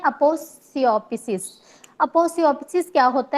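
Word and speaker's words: aposiopesis: Next 4.1 देखते हैं, अपोसियोपिसिस। अपोसियोपिसिस क्या होता है? इसकी मैंने वैसे प्रोनाउंसिएशन देखी थी तो वहां पढ़ते हैं अपोसायोपिसिस, तो लेकिन हम फ्लुएंटली इसको अपोसियोपिसिस भी पढ़ सकते हैं।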